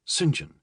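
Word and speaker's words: St. John: Detective Inspector Straford, first name Singen, it's pronounced Singen, he would wearily explain, was 35 and looked 10 years younger.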